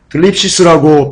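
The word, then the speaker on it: θλῖψις: 환난은요, 들립시스라고 발음하고요, 뜻은 억압, 압박, 고통, 괴로움, 고난, 이런 뜻을 갖고 있습니다.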